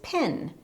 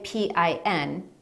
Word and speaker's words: PIN: personal identification number is pin but in conversation we don't say P i n we say it like the word pin another example is a